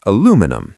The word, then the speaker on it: aluminum: In the UK, we say aluminium. Five syllables. It's rhythmic. Aluminium. See, that sounds like a magic spell from Harry Potter. Aluminium leviosa. In America, we just say aluminum. Four syllables. The stress is different.